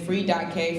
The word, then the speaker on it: Free.K: Free.K, free but the K is silent, don't think too hard about it.